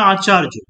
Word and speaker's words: আচার্য: কিন্তু কিছু কিছু বানান যেমন আচার্য, ঠিক আছে, আচার্য বা হচ্ছে আচারিয়া এরকম উচ্চারণ হয়, ACHARYA।